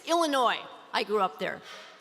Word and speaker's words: Illinois: is much easier it's illinois i grew up there you don't pronounce the s on the end and if we have